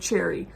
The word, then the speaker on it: Cherie: house by cherry jones i've been mispronouncing her name the whole time i read an article an interview with her and it she pronounces it cherry cherry jones and i read this